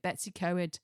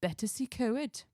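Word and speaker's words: Betws-y-Coed: My Welsh friend Yeah. told me off I'm pronouncing it. Betsy Coed. No, it's Betacy Co.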